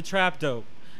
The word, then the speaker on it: trap doe: That's how you say it is, the trap dope. It ain't D-O-O-R, yeah. It's D-O-R. Just trap D-O, dope.